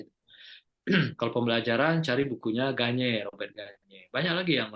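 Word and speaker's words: Gagné: Gagne, tulisnya Gagne. Bacanya Gagne. Cari buku itu.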